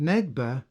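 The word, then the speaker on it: נגבה: The first occurrence of the word south in this first verse, and which is pronounced Negba, actually means towards the south, Negev being the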